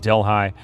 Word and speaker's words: Delhi: Said Delhigh. Yeah. Well, I don't think I've ever heard anybody pronounce it delhigh. I've always heard it pronounced Delhi. Like a deli sandwich.